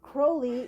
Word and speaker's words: Crowley: this often remember kids Crowley rhymes with holy that's right holy Mr Crowley holy Mr Crowley that's